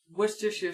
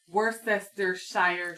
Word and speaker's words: Worcestershire: A lot of people don't know how to say Worcestershire sauce. There's like that joke, like where people say, "What's this here sauce?" Worcestershire sauce. It's Worcestershire sauce. I think that's how you say it.